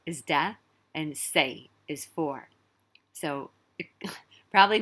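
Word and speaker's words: 四: because four is sounds the number four in cantonese sounds a lot like the character for death um it's not the same character and it's pronounced a little bit differently say say is death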